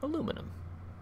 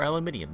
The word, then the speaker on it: aluminium: scan so we got nickel water aluminum or aluminium if you like to say it wrong what's this Moon Kos